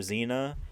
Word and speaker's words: Xena: or whatever it was Princess Warrior Xena that was with an X pronounce it with the Z that's my theory on